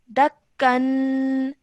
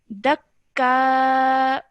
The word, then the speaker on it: دكا: And then over here, this would be dakka. دكا. Yes, because you're stopping, the stopping rule applies over here. So you would only pronounce one fatha of the fatha then, and obviously the alif madda would remain. So you'd say dakka.